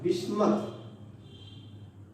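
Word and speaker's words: Bismuth: पापा phosphorus, Aslam as arsenic, सब antimony, और बीमार बी आई बिस्मथ। प्रोनाउंसिएशन में कुछ लोग बिस्मिथ भी बोलते हैं, है ना, तो बिस्मथ।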